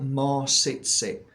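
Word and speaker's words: Maw-sit-sit: so this is called more sit sit so it's spelled m a w sit as in sit down sit sit more sit sit this is a beautiful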